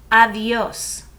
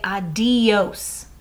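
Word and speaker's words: adiós: and that was adios avios now with this d here notice i don't say adios i kind of pronounce it like a fa adios it's a softer almost like a th avios okay sometimes you'll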